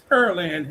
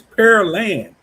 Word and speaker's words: Pearland: um Houston and it's Periland and and Yeah, Pearland. No, hold on. I'm saying it wrong. It's per land, not peril. It's pear like p e a r pear and then land.